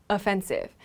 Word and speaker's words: offensive: But there's another word that is offensive. So it has the same spelling, right? But the pronunciation of this word is always offensive.